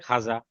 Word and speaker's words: ख्वाजा: हां फिलहाल देखिए यहां फिलहाल ऐसे वहां हां ठीक है ख्वाजा ख्वाजा पढ़ते हैं लिखते हैं लेकिन पढ़ते हैं खाजा ठीक उसके बाद हां